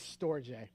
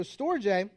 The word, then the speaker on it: storge: So this one I'm going to say is storge, which is pretty close to what I found most of. And so storge is a kind of loving affection based on familiarity, right?